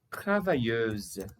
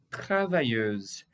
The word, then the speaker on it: travailleuse: Olha a pronúncia. Travailleur. Travailleur. Isso é masculino. E o feminino? Travailleuse. Travailleuse.